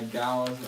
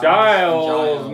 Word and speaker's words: Giles: That with remix by Gios Martin Giles Giles Martin.